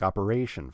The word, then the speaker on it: operation: putting stress on operation Operation four syllables and I'm stressing the third syllable operation that the third syllable is the one that gets the most stress in that word and that's an important